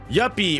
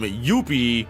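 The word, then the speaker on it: Youpi: him as a character yepy or as everyone so incorrectly pronounces him yuppi yep is a cool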